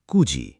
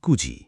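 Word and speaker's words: くじ: বারোটা বলতে বল জুনিজি এখন দুটো বিশেষ ব্যাপার মনে রেখো চারটের সময় ইয়ন না বলে বলতে হয় ইউজি আর নয়টার সময় কিউ না বলে বলতে হয় কুজি এই দুটো একটু আলাদা অনেকে এখানে ভুল করে মনে রেখো চার মানে ইয়োজি নয় মানে কুজি চল আবার একবার বল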